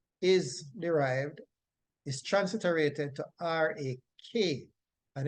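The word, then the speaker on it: רך: And the root word from which tender is derived is transliterated to R-A-K, and it is pronounced rak, rak.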